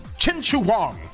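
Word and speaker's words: Qin Shi Huang: Chin Shu Huang. Chin Chu Wang. That's how you pronounce his name from what I've been told and how I've been corrected.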